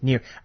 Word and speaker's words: Nier: Right, and they one of their games they announced was the Nier. Is that how you pronounce it? Yes, Nier.